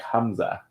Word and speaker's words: Hamza: You can say it like Hamza. Hamza? Ham like food, like put it around like common like Hamza or Hamza. Hamza, I'm assuming.